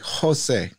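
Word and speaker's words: José: son presumably nowadays you'd name your son Jose with the little I don't know the accent on the end so that it's like Jose you know like with the Spanish accent a little Spanish letter yeah scribble over the top of E I only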